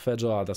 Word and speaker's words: feijoada: How to pronounce feijoada, słuchajcie, zaraz się dowiemy.